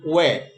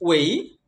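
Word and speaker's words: way: এটাকে আমরা বলি ওয়ে, এক্সপ্রেস ওয়ে, হাইওয়ে, এরকম বলি আমরা। ওয়ান ওয়ে, ওয়ে হবে না, এক্সপ্রেস ওয়ে না, express ওয়েই, হাইওয়ে, ওয়ান ওয়ে road, এভাবে বলতে হবে ওয়েই। ওয়েটা ভুল উচ্চারণ।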